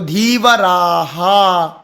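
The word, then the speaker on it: धीवराः: उच्चारण करना है सरह जो भी मात्रा होगी आ है तो आ का इससे धीवरा शब्द है तो धीवरा हा है ना ह हा ही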